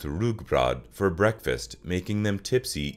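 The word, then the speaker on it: rugbrød: during festivities Danes take a strong alcoholic drink called gamaldansk with rye bread pronounced rugbrod for breakfast making them Tipsy even in the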